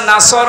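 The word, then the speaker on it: نصر: এখানে সোয়াদ আছে, নাসর মানে সাহায্য, আর নুন সিন র নাসর মানে ঈগল পাখি। আপনি যদি মুখটা গোল করে শুদ্ধ করে উচ্চারণ না করেন, অর্থ আকাশ পাতাল পাল্টিয়ে যাবে।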